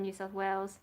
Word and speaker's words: New South Wales: And there was someone who was trying to do research about whether we should do it in New South Wales. That's the right pronunciation.